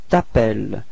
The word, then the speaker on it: t'appelles: We're starting with voyelle, so it's the same thing as previously, disappears, so we get this tu t'appelles, okay, final S is not pronounced. Tu t'appelles.